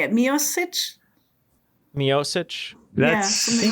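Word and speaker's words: Miočić: Mioich.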